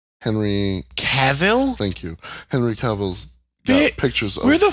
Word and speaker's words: Cavill: Henry Cavillio's I forgot how to say his last name. Superman. Henry Cavill? Thank you. Henry Cavill's got pictures of.